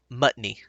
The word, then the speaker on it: Mutney: It's Mutney. Like a mutt. Mutney.